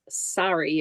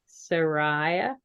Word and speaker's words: Sarai: All the people Abram, that, Lot, and Sari, or however you say her name. Sariah? I don't know. Sarai. Okay, Sarai.